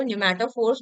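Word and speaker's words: pneumatophores: Mangroves के root को न्यूमेटोफोर्स बोलते हैं। इसका स्पेलिंग पी से शुरू होता है।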